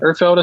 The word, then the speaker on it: Ertfelda: Ertfelda? Is that how you say his name? Yep. Ertfelda.